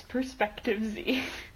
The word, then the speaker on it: Perspective Z: Even when he pronounces the podcast name wrong. It's Perspective Z.